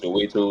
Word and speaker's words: So080: So So as far as pronunciation goes, Soweto is calm, so 080 is calm.